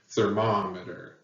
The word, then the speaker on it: thermometer: it so for example in the word thermometer you can hear that there's a heavy emphasis on the second syllable mom thermometer okay uh four syllables third moment but the second one has the stress or emphasis or accent thermometer and stress is really